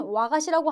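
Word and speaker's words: 和菓子: 와가시. 발음은 와가시라고 하는데 한국어로 하면 아까 평화라 그랬잖아요. 그래서 화과자가 와가시가 되겠습니다.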